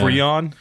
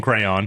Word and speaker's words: Kreon: His name is spelled Kreon. Oh, that's exactly how I wrote it down. Perfect. Yeah, great minds. I put a little dash in between Creon. Cree and on, so I would say it correctly.